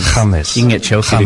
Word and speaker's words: James: I mean, it's spelt James, but yes, pronounced James. James.